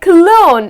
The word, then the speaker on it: cologne: The letter G, the correct pronunciation of these words here is again saying good bye to the letter G, so it’s like cologne.